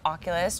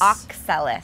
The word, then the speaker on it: Oxalis: So, okay, so one of your favorite houseplants is the Oculus triangularis. Oxalis.